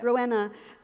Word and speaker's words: Rouenna: it was in Rouenna, forgive me, I don't pronounce the book. Rouenna, yeah. Rouenna, you describe this scene where, I'm sitting, it's